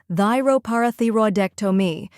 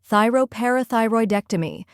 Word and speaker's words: thyroparathyroidectomy: have thy row where thy sounds like thigh and row rhymes with row then par where the